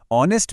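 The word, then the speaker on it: honest: अब आपको पता है ऑनेस्ट में एच साइलेंट है। साउंड ओ से शुरू होती है।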